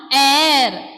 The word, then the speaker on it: heure: This one, air. H-E-U-R-E. H will be silent here.